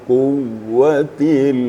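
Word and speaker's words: الْقُوَّةِ: bukan jadi mad Ya jadi cara bacanya Zul quwatil matin quwatil quah jangan dipanjangkan ya cuma itu sedikit sedikit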